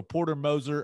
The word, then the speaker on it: Porter Moser: The pronunciation guide. So Moser. So Porter Moser hired as Oklahoma basketball's new coach.